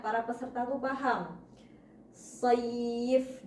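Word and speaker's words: سيف: Sayf dari kalau secara Latin SHO ketemunya Y. Sayf, bukan SHOYII. Jadi jangan sampai soif, jangan sampai ya-nya itu diberi harokat kasroh. Soif. Nah, tidak seperti itu ya. Ya-nya tetap harus sukun. Saif.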